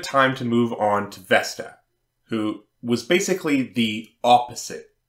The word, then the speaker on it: Vesta: Now's a good time to move on to Vesta, who was basically the opposite of Venus. Vesta, or as the Latins pronounced her name, Vesta, analogous to the Greek Hestia, was a goddess of sacred space.